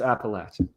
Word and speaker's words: Appalachian: length of your beard skews you towards saying appalachia that's my theory but it's appalachian okay so that's good